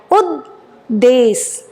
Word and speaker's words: उद्देश: उद्देश, द के नीचे दूसरा द बना है, उद्देश, उद्देश, पूरा द नहीं बोलना है।